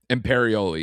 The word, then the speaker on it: Imperioli: Is that how you pronounce it? Imperioli, yeah.